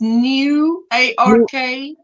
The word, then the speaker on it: Newark: there's another place yeah it sounds like New York but it's not New York it's new a-r-k Newark Newark I mean